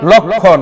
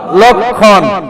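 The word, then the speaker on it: লক্ষ্মণ: করেছি এবার আসেন অনুরূপভাবে লক্ষণ আমরা এটাকে কি বলবো লক্ষণ তাহলে এখানে খোঁয় পাইলাম ম ফলার তো উচ্চারণই হবে না খ টা কোথায় পেলাম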